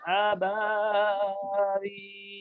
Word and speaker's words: أبابيل: আবার মধ্যে কিন্তু এক আলিফ টান শুধু, আমরা অনেকে বেশি টানে কি আবাবিল, তাহলে বার মধ্যে তো তিন আলিফ হয়ে গেল। বার মধ্যে কয় আলিফ হবে? এক আলিফ। আর বিলে তিন আলিফ, এজন্য বার মধ্যে বেশি টানবো না।